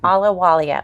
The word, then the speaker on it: Ahluwalia: is at ala alalia alalia yeah H is silent okay alalia well da cangelosi crosta